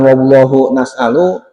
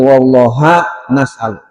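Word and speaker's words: والله نسأل: Dan hanya kepada Allah kami mohon bacanya bukan wallahu nasalu tapi wallah nasalu.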